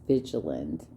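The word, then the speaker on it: Vigeland: emma by the way my favorite troll you're mispronouncing her name is vigiland i had this conversation with nyle talking about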